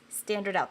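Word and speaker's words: stdout: results to a place called standard out and that's spelled all caps STD o u t yes standard out that's what they call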